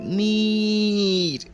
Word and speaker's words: মীর: বন্ধুরা আমাকে মীর ডাকে মীর উচ্চারণটা একটু টেনে মীর এরকম বুঝতে পারলে পারলাম বসো